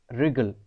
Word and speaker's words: wriggle: Next WRIGGLE, बट इसे हम पढ़ते हैं रिगल।